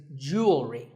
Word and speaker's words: jewelry: word number 44 is jewelry it's spelled differently in American and British English but it's pronounced the same Jew will ring jewelry it's not jewelry and it's not jewelry it's jewelry up next is the